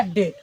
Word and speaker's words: date: तो आप लोगों को ये पता होगा, यदि किसी भी वर्ड के अंत में ई रहता है लगा हुआ ई, तो ई साइलेंट हो जाता है, तो बाद में साइलेंट है ना, ये साइलेंट हो गया, तो बच गया डेट।